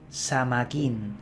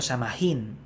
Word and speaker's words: Samhain: El nombre original de Halloween fue Samhain o Samhain. Hay varias formas de pronunciarlo.